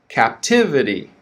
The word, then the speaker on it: captivity: word is captive okay stress on the first syllable captive and the second word is captivity captivity so focus on that word stress repeat